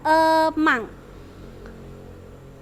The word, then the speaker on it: among: yang betul itu adalah emang. Tulisannya among bacanya emang.